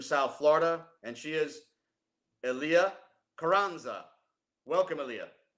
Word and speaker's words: Elia: So you said pronounce it ELIA, and that's the Yes, official ELIA.